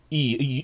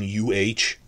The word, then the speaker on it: y: You will see E, and you think, is that E like in Spanish? No, it's, when you see Y as a standalone word, it's pronounced like as in UH, And it's pretty common because it's actually the definite article, the.